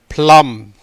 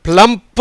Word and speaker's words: plumb: ப்ளம். இட் இஸ் நாட் அ ப்ளம்ப், இல்லை ப்ளம், அவ்வளோதான்.